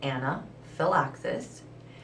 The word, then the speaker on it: anaphylaxis: outside the lower gym anaxus pronounced Anna Phil axis is a serious allergic